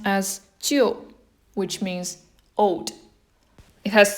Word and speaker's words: 旧: This is pronounced as 旧, which means old.